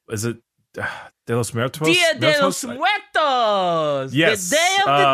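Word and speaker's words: Día de los Muertos: Hey, you know, I don't know how to pronounce this. What is it? De los Muertos? Dia de los Muertos.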